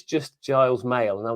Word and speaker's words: Giles: It's just Giles Mail.